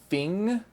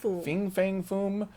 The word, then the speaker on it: Fin Fang Foom: And I've heard a lot of people pronounce it Fing for some reason. Fin Fang Foom.